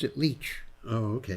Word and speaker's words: Licht: He spelled it that way, but he pronounced it Leach. Oh, okay. Like you leach something out of the field.